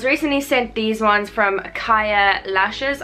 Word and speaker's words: Kaiia: I was recently sent these ones from Kaiia Lashes. I think that is how you say it, or unless it's Kaiia, spelled like K-A-I-I-A.